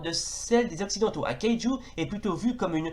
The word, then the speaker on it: kaiju: Alors, kaiju, alors, du kunrei qui se prononce kaiju, littéralement bête étrange ou bête mystérieuse.